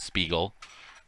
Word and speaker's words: Spiegel: it down for you that's spiegel not bagel ah that's not how he pronounces his name well okay well there's a brand called spiegel okay and that's how you say it i'm just saying